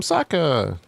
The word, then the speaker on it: Sokka: I'm Sokka. It rhymes with an Akka.